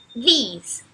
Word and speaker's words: these: Então a gente percebe que no this o som é mais próximo do som de um E, enquanto no these o som é muito claramente de I.